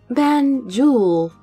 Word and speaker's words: Banjul: Banjul. I rolled my tongue and pronounced it.